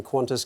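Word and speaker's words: Qantas: Could you cover everything from wars and revolutions to Kim Kardashian breaking the internet to the latest developments in Quantis customer service?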